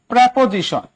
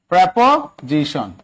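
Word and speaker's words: preposition: প্রেপোজিশন। প্রেপোজিশন, ওনাকে উচ্চারণ করেন প্রিপোজিশন, এটার উচ্চারণ কিন্তু প্রেপোজিশন, এটা উচ্চারণ কি? প্রেপোজিশন। ঠিক আছে, আপনারা বলেন প্রিপোজিশন, কোন প্রিপ্রি না, এটা হচ্ছে প্রেপোজিশন।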